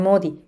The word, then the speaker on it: Modi: la alquimia sus amigos le llamaban modi como se pronuncia la palabra maldito en francés pese a estar rodeado